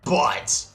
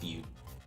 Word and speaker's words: butte: It'd be great if we could see the superb butt. I know it's supposed to be pronounced butte, but it's way more fun this way.